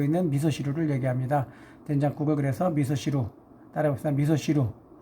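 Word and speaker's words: 味噌汁: 된장국을 그래서 미소시루, 따라해봅시다. 미소시루. 여기서 발음이 붙어가지고 미소지루 이렇게 말하기도 하는데요. 엄격하게 말하면 시와 지의 중간 발음 미소시루하고 미소시루 이렇게 살짝 넘어갑니다.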